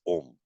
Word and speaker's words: Om: a lot of people who pronounce it as Aum. All that is wrong from the point of view of Shastra. Or from Sanskrit grammar also, the word is Om.